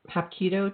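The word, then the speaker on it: Hapkido: Now, you you also did um Hap Keido. Did I pronounce that right?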